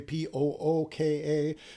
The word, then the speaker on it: pooka: u k h a p o o k a but however you spell it it's pronounced pooka and there's two kinds